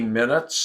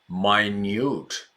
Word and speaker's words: minute: That's, 1 minute, 60 minutes in an hour, meh, short eye. But for extremely small, the pronunciation is minute, minute.